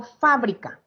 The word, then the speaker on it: fábrica: que estar el acento cuando yo digo fábrica donde cargo la voz en fa en brillo en acá